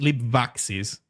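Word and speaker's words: libvaxis: Uh we have this we have lib vaxis which should be pronounced lib vaxis.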